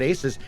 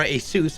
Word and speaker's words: ASUS: to the people at aces or asus apparently i've been saying it wrong this entire time did